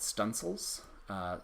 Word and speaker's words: studding sails: There were things called stunsels, spelled like studding sails, which you could put